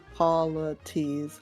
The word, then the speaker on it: Polites: And then Polites is just like basically how they pronounced polite with an S at the end. Polites, polites.